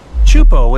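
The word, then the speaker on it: Teahupo'o: Chupo in Tahiti also has some of the heaviest waves in the world, breaking over a shallow reef and creating intense barrel rides.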